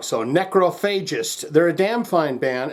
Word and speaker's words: Necrophagist: So Necrophagist, they're a damn fine band, and we're back to do Fermented Offal Discharge.